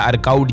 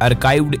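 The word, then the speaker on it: archived: अब नया मैसेज आने पर भी नहीं दिखेगा अर्काइव्ड चैट्स या अर्काउड चैट्स, जो भी कुछ कहो आप, अर्काइव्ड इसका सही उच्चारण ये है।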